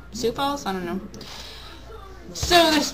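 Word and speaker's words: Sioux Falls: sou Fall South Dakota that's spelled s i o u x Falls sou Falls I don't know so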